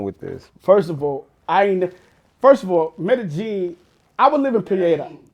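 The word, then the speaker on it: Medellín: They say that's like the 2 L's pronounced as J's. But I don't know. It's 2 L's in there. I don't even, either way, I don't hear the L's.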